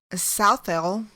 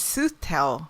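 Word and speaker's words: Southeil: over the years but sooth tell seems to be the most apt because it's like sue teller oh anyway she was the most famous for her prophesying abilities she was born at 15.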